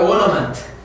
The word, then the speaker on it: ornament: 영국에서는 R 발음이 없어지니까 ornament.